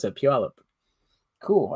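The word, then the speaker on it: Puyallup: It's held in Puallup and that's how you pronounce the word pewip. Puallup.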